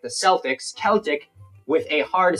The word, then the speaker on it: Celtic: soft say in sports teams names like the Celtics Celtic with a hard C or k is